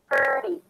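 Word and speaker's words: thirty: Also, the stress affects the pronunciation of the T sound. Because in the first word, we have 13. It's the strong aspirated T because it's at the beginning of the stressed syllable. Versus 30, here it's a flat T, so it sounds like a D.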